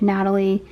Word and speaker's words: nathalie: is a hoya natalie or nathalie as it's spelled but i believe it's like natalie such a fast grower follow